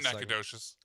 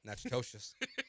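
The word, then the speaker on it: Natchitoches: Not Nakadoshious. Nope. Nachidoshious. Probably saying it wrong, too.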